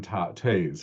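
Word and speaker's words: Toews: and then Miriam tays her name is Tays. It's spelled TEOWS.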